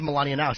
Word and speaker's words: Melania Knauss: It is Melania Knauss.